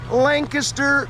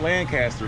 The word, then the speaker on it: Lancaster: We find ourselves here today in Lancaster, Pennsylvania. Not Lancaster, folks. That's right, we just talked to the locals. They taught us how to pronounce this place so that you all don't mess up when you come here.